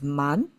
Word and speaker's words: 谩: Okay, so man, I have to use this one of the two meaning, two pronunciations and meaning. It means deceive. One is man, and I will show you the other meaning later.